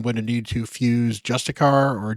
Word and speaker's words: Justiciar: point where I'm going to need to fuse Justicar or Justiciar, as it is pronounced here.